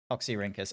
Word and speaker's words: Oxyrhynchus: papers carelessly thrown away by the citizens of Oxyrhynchus. Probably pronouncing that absolutely terribly. Hang on a second. Dink. LX. Sorry, you want to say that again? Oxyrhynchus? Oxyrhynchus.